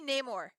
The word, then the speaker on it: Namor: was that English hell if I know that's Namor or if if you listen to some of the new Latino people namur number it's supposed to be Namor Namor oh okay his name is Namor it's